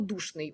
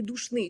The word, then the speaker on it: душний: перерипетія так само ось слово Душний у нас наголосом на у а був завжди Душний тому що прикметники в українській мові здебільшого якщо мають два склади наголошуються на другий склад так ну і такі